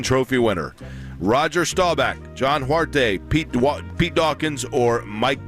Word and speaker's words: Huarte: oldest living Heisman Trophy winner Roger Staubach John huarte Pete Pete Dawkins or Mike Garrett I I John heward is the the way you pronounce it I'm saying okay say those one